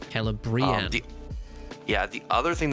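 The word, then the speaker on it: Celebrían: the D thongs so the I a together you pronounce each vowel separately oh I see interesting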